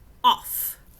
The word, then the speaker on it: off: This also is a sight word, off, and it's a soft F at the end because it has got two of them, okay?